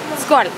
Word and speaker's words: Skål: Skål. S K, and there's a Norwegian letter. It's A with dot over. So like O sound. Skål.